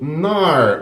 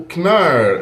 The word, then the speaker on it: Knarr: joguinho aqui ó o nar ou knar não sei se a pronúncia US k ou não já ouvi falando dos dois jeitos Mas eu acho que não uso o k então é nar Esse é um joguinho